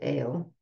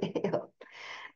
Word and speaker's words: Eyal: And his last name is Eyal, but it's pronounced Ale. Not but, and it's pronounced Ale.